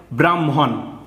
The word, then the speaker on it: ব্রাহ্মণ: হন এরকম উচ্চারণ হবে আগে ম এর উচ্চারণ হবে তারপরে হ এর উচ্চারণ হবে হ্যা বয়রাফেলা হম ময়ে